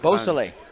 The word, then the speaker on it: Beausoleil: Beausoleil.